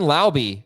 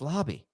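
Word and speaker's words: Laube: buy or sell Dylan Lobby Dylan Lobby best I think it's Lobby yeah it's lobby as the best week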